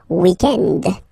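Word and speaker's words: week-end: weekend okay but then pronounce it the French way weekend the weekend okay but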